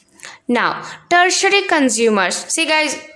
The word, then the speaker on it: tertiary: tertiary consumers see guys its pronunciation is tertiary not territory those who belongs to my ultimatum even i do a territory i was calling but it's not a it's tertiary consumers tertiary consumers are animals